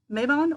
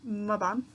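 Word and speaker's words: Mabon: And then we have Maibon or Maibon, depends on who you ask as to how it's pronounced, and it is a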